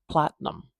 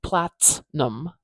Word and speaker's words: platinum: in this word that the stress is going to be over awah awah is by nature this short short vowel here by Nature very weak and very short and that doesn't cooperate with strong syllables long loud syllables Platinum Platinum so this is a broad transcription where I just have the general letters in there for that t for that t sound because I'm not saying plattinum plattinum I'm saying Platinum